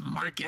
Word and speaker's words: Marcus: It's Marcus. Rhymes with Target.